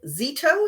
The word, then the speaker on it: Zito: we are here with Stephanie Zito, is that how you say it?